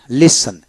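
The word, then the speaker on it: listen: নেব টিতে যেমন এখানে অডের মধ্যে এসটি বা এসটি এল থাকলে টির উচ্চারণ বিশেষ করে হয় না যেমন লিস লিসন Alice SE এন লিসন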